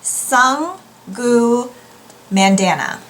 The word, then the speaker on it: Sangu Mandanna: It is The Very Secret Society of Irregular Witches by Sung-Gu Mandanna. I did look up on Sung-Gu's website on how to pronounce her name, and so it's Sung-Gu Mandanna.